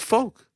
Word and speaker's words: Volk: What do you guys say, Volk or Volk? Volk. Volk. But it's folk. Yoke. Yeah, but but it's coming from Volkanovski.